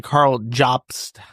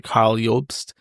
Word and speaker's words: Karl Jobst: Uh, by reading to you excerpts from a book by Carl Jobs, as I've discovered, he prefers to be called, even though his name is German and the pronunciation is actually Carl Yulpst.